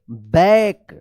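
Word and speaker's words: back: ए सी के बैक जहां पे भी सी के एक साथ रहता है इसका क उच्चारण होता है बैक टू टू टी ओ टू द एम ए आर के ई टी क्या पढ़ेंगे इसको?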